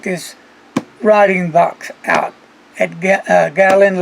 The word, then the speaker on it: Galen: need to check this writing box out at gallon letters is that how you say it Galen Kayla alien yes okay okay leather so I'm